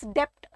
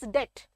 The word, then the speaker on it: debt: pronounce the word as Dept be silent it is debt the alphabet be B is silent it is debt okay it is a